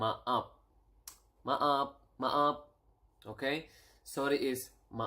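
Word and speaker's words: maaf: need to say sorry sorry is m up Ma up up okay sorry is ma up Ma up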